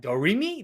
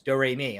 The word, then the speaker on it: Doremi: Youth area Doremi land which I didn't realize that's how you pronounce it yeah I was just like I have no idea don't read me they're like no it's Doremi I'm like I was